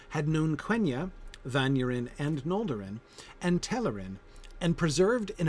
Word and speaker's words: Noldor: trying to teach me how to pronounce that tilde over the N at the beginning in Noldor. I've been practicing. I've been trying to work on that. It's hard because we don't do that in English. The ng sound at the beginning of words or syllables.